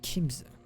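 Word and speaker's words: Chiemsee: a lake in Germany it's pronounced like Kim oh I see I Kim Kim Kim Kim sounds good I think almost like kimchi kimza yeah yeah D geese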